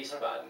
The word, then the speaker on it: Wiesbaden: Yeah, it's with a W actually, but Whoa, you call it a V, so okay. Wiesbaden.